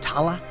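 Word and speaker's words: Thale: The title looks like fail but is pronounced Tala.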